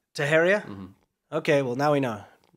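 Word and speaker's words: Teixeira: up big time this guy um taharia is pronounced taheria taheria okay well now we know are you sure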